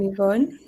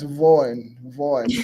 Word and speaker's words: Yvonne: Oh, so the Y is pronounced as E. Yes, yes. Oh, can you imagine? I was pronounced as Vaughn in my head.